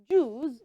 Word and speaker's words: juice: u i c e is pronounced Jew can we say that together ju and mind you you see that the c e at the end of that word is not sound then so it's not juice